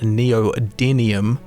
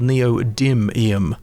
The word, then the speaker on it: neodymium: find Neo demium which for my whole life I pronounced neodium until I played Starfield and so it was in fact called neodymium so much like the